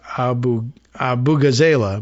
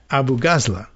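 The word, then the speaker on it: Abu-Ghazaleh: It's not my original interpretation of rhyming with Avuvuzela. I thought it was Abu Ghazala, but it's not. Kat Abu Ghazala.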